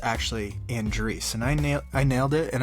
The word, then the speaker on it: Andreas: name right because you would think that it's pronounced Andreas, but it's actually Andreas, and I nailed it, and I'm pretty proud of that.